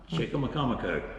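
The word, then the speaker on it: Chicamacomico: a name I'm going to choke you on, Chickamaucomico. Yeah. So I've seen that one printed out, but I didn't know how to pronounce it.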